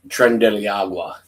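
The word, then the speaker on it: Tren de Aragua: is pretty strong words, was run by the Trent Diaragua or Aruga. How do you say that? Trump Trend Deiagua.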